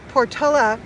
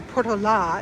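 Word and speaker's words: Portolá: And it talks about the Portoa or actually Portola is how you really pronounce it expedition.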